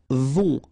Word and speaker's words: vont: Then, ils vont. Final T not pronounced, and then O and together, on vont, okay?